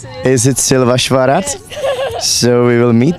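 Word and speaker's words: Szilvásvárad: I don't know how to pronounce it. Is it Silvasvarat?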